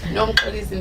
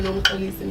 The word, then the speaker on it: Nomxolisi: the poet, also Nomxolisi. Dead. How do you say that? Well, it's the X in my name. The X is the one that makes that a click.